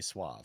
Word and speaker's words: suave: that's a bit though it's Suave that's true I mean I think most Americans say sve yeah yeah sve I I would say sve all right last one